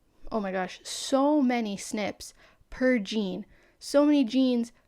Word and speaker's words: SNP: there are specific snips they're snps but we pronounce some snips and each individual snip